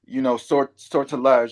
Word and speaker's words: Sortilège: Asian inspired cover, but sortilège. I know I'm not pronouncing that correctly. No, that's it. It's That's French. correct. It's Yeah, French.